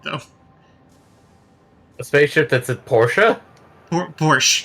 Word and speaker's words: Porsche: have misread that though a spaceship that's a Porsche por Porsche like the like the manufacturer Porsche but yeah Porsche Porsche not Porsche no that's how it's officially pronounced as Porsche I had to be corrected by multiple car